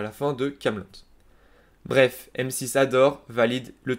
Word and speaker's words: Kaamelott: AA Alexandre Astier, et 2T à la fin pour que l'on prononce Kaamelott et non pas Camelot.